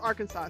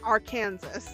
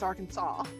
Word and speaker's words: Arkansas: Arkansas must be pronounced Arkansas. So now you know Arkansas, not our Kansas. Even though it looks like our Kansas and anybody outside of the states will call it our Kansas, it's Arkansas.